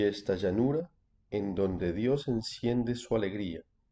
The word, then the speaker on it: enciende: llanura en donde Dios enciende su alegría. Azul avec un S, enciende avec un S aussi. C'est pas azul ou enciende. Ça, c'est la prononciation espagnole de l'Espagne. Donc, attention, on dit toujours S.